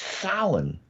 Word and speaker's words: Samhain: pronounced Samhain.